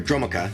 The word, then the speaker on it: Dromoka: Territorial Rock, Marsh Hulk, Glade Watcher, Dirger Nemesis, Atarka Afreet, Flatten, Elusive Spellfist, Herald of Dromoka, or Dromoka is actually the correct way to pronounce it.